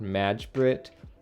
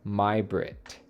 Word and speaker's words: Majbritt: to pronounce that today it's not magic it's pronounced my Brit and I believe it's